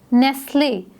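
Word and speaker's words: Nestlé: आगे इसे silent hair नेस्ले नेस्ले जो है वो एक ब्रांड है और इसको हम प्रोनाउंस कैसे करते हैं नेस ले हमने टी को प्रोनाउंस नहीं किया इसको हमने नेक्स्ट लेने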